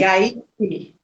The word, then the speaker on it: Gaichi: Quem chegou agora, estou falando com Gaiche. É assim mesmo a pronúncia? Gaiche? Gaishi.